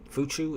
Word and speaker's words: Fuchu: Fuchu? Is that how you pronounce it?